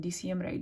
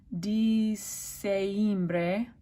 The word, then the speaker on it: Diciembre: E in Diciembre December if you had AI that would be pronounced a different way all of the vowels are pronounced in Spanish this would be d same Bray which is not a word can't do that so Diciembre porfavor alright